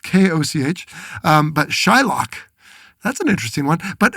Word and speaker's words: Shylock: It's spelled K-O-C-H. But Shylock, that's an interesting one.